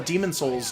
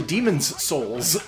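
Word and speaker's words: Demon's Souls: is people forget this it's demons souls it's to essence next to each other people people can never pronounce it right so people just call a demon souls non-stop but it's actually demons souls and it's really really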